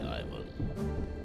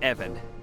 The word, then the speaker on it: Ivan: today so ask away Ivan uh Evan it's it's pronounced Evan the short gutteral I wanted to ask